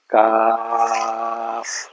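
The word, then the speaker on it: ق: কাফ কাফ, লম্বা হবে। আর এটা বলতে আমরা ভুল করছিলাম, আগে পড়তাম এটা পড়তাম, এটা হলো ভুল। কাপ হলো ভুল, কয়েকবার কাব কাপ পড়তাম আমরা, কাপ ভুল। এটা পড়বো কাফ, শেষে ফয়ের উচ্চারণ হবে।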